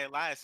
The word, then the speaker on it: Elias: Nah, because I don't even go by Elias anymore. I go by Elias. Are we pronouncing both L's? Yeah, we pronouncing both L's now.